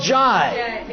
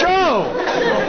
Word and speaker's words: Joe: They yelled Jai. Jai. And I'm thinking, no, Joe. They got my name wrong again. It's Joe. And every time I said that, they go, Joy.